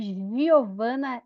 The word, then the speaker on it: Giovana: Fi Pois é parece parece mesmo que Giovana é o som do J J jacaré porque esse é o som do Jacaré mas a Giovana da nossa sala não escreve com J se escreve com g mas tem o porquê